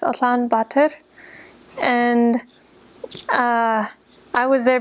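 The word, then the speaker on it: Улаанбаатар: in the capital city which is in Mongolian pronounced Alan B and uh I was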